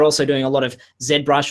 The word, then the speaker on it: ZBrush: And they're also doing a lot of ZBrush, or ZBrush, as the Americans say it, Mudbox.